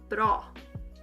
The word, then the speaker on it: bra: it's spelled like that yog mor bra this does not mean i feel brah that is not that is not the case bro i only know